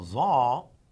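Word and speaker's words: ظ: Now za, if you would notice, again z, but this is again deeper, and we would say it's za with a double a dot.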